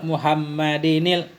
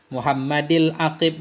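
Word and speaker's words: مُحَمَّدِ الْعَاقِبِ: Muhammadinil, enggak cocok. Muhammadil aqib li rusli rabbih. Jadi di sini Di matannya nggak ada tanwin. Ini nggak ada tanwin di sini karena untuk mengepaskan bait syair. Tapi bacanya Muhammadil Aqib. Walaupun aslinya ada Muhammadinil. Tapi di sini nggak ada tanwinnya untuk cocok baitnya.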